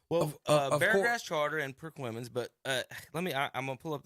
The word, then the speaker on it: Perquimans: going to do is figure out how to pronounce their name. Tom, do you know what this Perquimans is? Is that right? Yep. Did I just say it Perquinius? right? Wow. Perquimans.